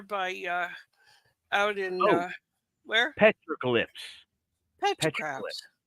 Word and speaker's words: petroglyph: Petrographs?